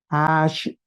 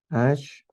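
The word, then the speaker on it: אַשְׁרֵי: Pero en el hebreo, esta palabra es ashre, así es como se pronuncia, se escribe así, ashre, ¿ya?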